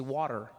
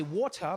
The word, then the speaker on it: water: In American, you say water, right? Water, yeah. I say water because there's a T in the word, right?